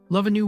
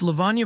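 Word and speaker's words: Lavanya: Love a new warm, I said, teasingly finishing the name. It's Lavana Verma, she corrected me, her frustration evident.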